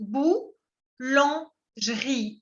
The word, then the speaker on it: boulangerie: On dit boulangerie. No se pronuncia la E. La primera E es muda.